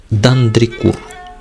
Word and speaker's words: Дандрикур: Правда, правильнее произносить его фамилию Дандрикур.